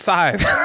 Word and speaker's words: Scythe: My number 5 rhymes with 5, and it's Scythe.